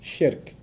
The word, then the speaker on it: shirk: Sounds like Shrek, so that's easy to remember, right?